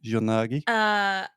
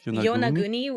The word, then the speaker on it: Yonaguni: But you had never heard about the, how would you pronounce that, the Yonagi? Yonaguni? Yonaguni is what it would be.